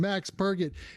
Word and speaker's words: Max Purget: I didn't want to say the name wrong again. Max Purget.